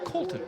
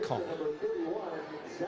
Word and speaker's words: Colton: Okay, I've mispronounced Mr. Schaefer-Cotter's first name. It's Colton. Yeah. Not Colin.